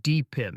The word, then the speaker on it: DePIN: stands for decentralized physical infrastructure networks oh it's pronounced dpin dpin the guy so dpin is all about